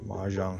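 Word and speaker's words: mahjong: 마종 마장 영어로는 마장이라고 발음을 보통 하고요.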